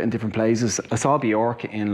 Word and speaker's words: Björk: Björk as well. Yeah, that's actually how you say it.